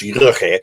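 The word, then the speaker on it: Goeje: I don't know how to pronounce, but I've been told it's Rugge.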